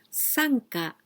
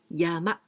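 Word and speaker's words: 山: Sanka Haku. Sanka Haku. This is also very famous ukiyo-e. And this meaning, sun this kanji is quite easy. This means mountain. We also pronounce yama, yama, mountain.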